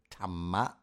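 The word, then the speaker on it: ธรรม: Or of course in Thai, we would call it Tama with a T.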